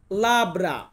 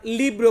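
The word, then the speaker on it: labbra: ঠোঁট এটাকে ইতালিয়ান ভাষাতে বলা হয় লাব্রা। লাব্রা মানে হচ্ছে ঠোঁট। আবার লিব্রো বলেন না, লিব্রো মানে হচ্ছে বই।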